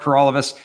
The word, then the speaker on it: Paralovos: My name is Paralovos, and that rhymes with for all of us.